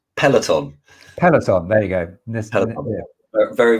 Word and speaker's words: Peloton: I can't pronounce it, but it begins with P. It's something like Paragon. Controversial one. It's Peloton.